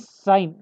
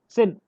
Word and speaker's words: sine: इट इज नॉट सिन बाय द वे. इफ you pronounce it, इट इज एज सिन. Okay. But trigonometry it is pronounced as साइन. Okay. SINE. सो E would be साइलेंट.